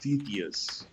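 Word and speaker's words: Stauthis: Stathis, but it's pronounced Stethius.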